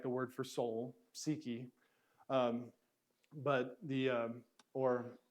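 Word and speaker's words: psyche: how you spell it seeky p s y foreign psychology seeking this is the the we say we're not going to use the Greek's first letter P we're going to drop that and say it's silent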